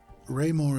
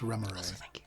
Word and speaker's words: Raymore: you and he says, Raymore is what people from outside the Magiocracy call me, and as outsiders I've just told you all that name, but it's pronounced Remoray, if you must know.